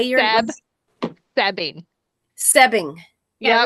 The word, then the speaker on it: Soebbing: It's actually Sebing, but nobody gets it right, so you're fine.